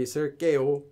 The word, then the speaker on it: 있을게요: 이거 앞으로도 매번 여기 있을게요. Okay, and then 깨요 for the as well. Spelling is just one of those 기억 letters, not two of them. So 있을게. Spelling is 있을게요, but pronunciation is 있을게.